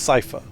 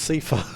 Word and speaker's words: Seifer: with to be fair that is pronounced Cipher as first determined by Kingdom Hearts 2 I thought it was pronounced CA I do Kingdom Hearts